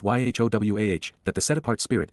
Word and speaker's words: Yahowah: considered the fact that God's name is pronounced y wah that the set aart